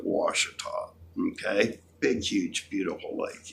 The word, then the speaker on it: Ouachita: down at Lake Ouachita which they spell okay to to the Indians fiducia obviously pronounced at Washita okay big huge beautiful